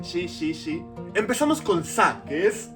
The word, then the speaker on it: し: Los japoneses no pueden pronunciar si, dicen shi, shi, shi.